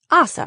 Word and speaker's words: Asa: Now it's Assa, right? Am I pronouncing that correctly? Yes, I replied. You pronounced it perfectly. My whole life this was something I struggled with.